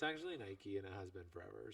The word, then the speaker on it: Nike: I'm like, no, it's actually Nike and it has been forever.